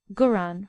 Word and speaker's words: Quran: in al-hijaz generally is the pronouncing of K Arabic a hard G for instance guran for kurran a Quan and Hagi